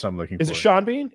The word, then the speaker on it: Sean Bean: michael b that's what i'm looking is it sean bean it's sean oh i'm sorry sean bean uh